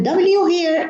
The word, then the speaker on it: where: and the W here is silent, and we pronounce the H. Whereas in words like where, what, when, why, the H is silent.